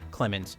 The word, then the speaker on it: Clemens: beneath the mansion named John Clemens, two syllables, as a means to steal intelligence from him for her own mysterious company.